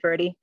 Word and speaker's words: Cabo Verde: when we reference Cape Verde. C-A-B-O? C-A-B-O. And V-E-R-D-E? Okay. And did I pronounce it right? Is it Cabo Verde or is it Verde? It's Verde. Okay. You can say Verde, but Cabo Verde.